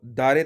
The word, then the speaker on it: دارد: نیچے under line میں بتا رہے ہیں کہ محاورے میں چے کو چی اور دارد کو دارے تلفظ کرتے ہیں. مثلا اونچے دارد بن جائے گا اونچی دارے، اونچی دارے، اونچی دارے. اس طرح سے اس کو تلفظ کریں گے.